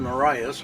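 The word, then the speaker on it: Morais: It's Marias, which is spelled M-O-R-A-I-S.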